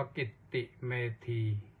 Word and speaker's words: กิตติเมธี: Facebook Live ที่ กิตติเมธี K ตัว ใหญ่ i t i m e t e อ่าน ว่า กิตติเมธี ก็ ฟัง กัน ได้